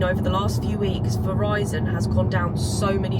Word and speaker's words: Verizon: it and then another one is version I think that's how you pronounce Is it? Oh, Verizon. Verizon.